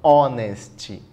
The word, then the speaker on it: honest: D nosso gabarito porque você fala honest honest você tem que usar o n porque o som é de vogal o som do o honest beleza show vamos na